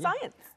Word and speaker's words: conscience: 보면 여러분, con 빼보면 우리가 알고 있는 science잖아요. 과학인데 con이 붙었다고 해서 갑자기 conscience. 발음이 바뀝니다. 불규칙적으로.